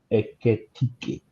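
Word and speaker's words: Ekitiké: anytime you need the ball in the middle where Darwin Nunes would have been, now we have someone called Ekitike. You can pronounce it with me, Ekitike.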